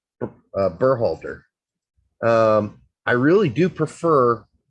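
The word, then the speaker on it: Berhalter: way we're pronouncing uh burhalder um i really do prefer tactical's pronunciation of bear holder because that is how it would be pronounced if he were like still german which is that's like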